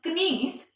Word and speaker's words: knees: Not knees. It is knees. K is silent here.